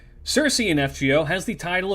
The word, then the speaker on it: Circe: I know her name's pronounced Kirike. I'm never going to call her that. You're going to have to bear with me calling her Circe. Circe in FGO has the title of being the Falcon Witch.